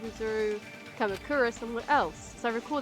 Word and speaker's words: Izuru Kamakura: Izuru Kamakura! That's how you pronounce that.